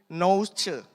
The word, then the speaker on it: Nous: Ya, kata akal budi di situ itu diambil dari bahasa Yunani nouche. Ini agak susah nih bacanya. Nous gitu tulisannya tapi bacanya nouche.